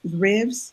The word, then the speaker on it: RIVS: RIVS.